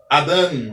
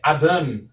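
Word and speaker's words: אָדָם: O segundo vocábulo é o Adam. Adam. Observe que o Aleph também é uma consoante muda como o Ain, e eu devo pronunciar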